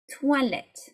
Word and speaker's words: toilette: And last but not least, we have the OI, which is pronounced like a wa, wa. Okay. So 1, 2, 3, toilette. Toilette, this should be a keyword for you to remember it, yeah?